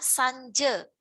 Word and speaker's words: sanja: Sanje, ya, sanje itu pengucapannya sanje, tetapi penulisannya sanja.